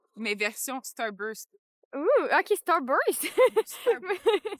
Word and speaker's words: Starburst: Ouh, OK, Starburst. Moi, je dis Starbucks, mais c'est clairement moi qui le prononce mal.